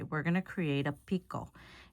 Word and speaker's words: picot: going to create a picot. It's a French word. It's P-I-C-O-T or something. I forgot how you spell it. But it sounds just like the Spanish version, picot, which means a little point.